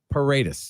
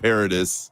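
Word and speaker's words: Paredes: what it's thid so let's try to hammer this pronunciation down paradus Bingo caps nailed it that is the man's name that is what everybody should call him not not Isaac not paridis right let's remember this paradus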